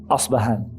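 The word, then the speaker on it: أصبهان: The Arabic term, the Arabic pronunciation of the city is Asbahan.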